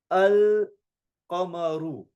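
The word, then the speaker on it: القمر: Notice in the al-qamaru one, I actually pronounced the lam and hence I wrote the sakin on top, the circle on top.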